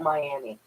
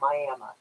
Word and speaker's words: Miami: Everybody in the fucking planet will call that Miami, but here in Oklahoma, we actually pronounce that Miami.